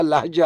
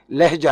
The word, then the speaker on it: لہجہ: ہم لہجہ کہتے ہیں، یہ عربی کا لفظ ہے لام کی زبر کے ساتھ، تو صحیح تلفظ اس کا لہجہ ہے، لہجہ نہیں ہے.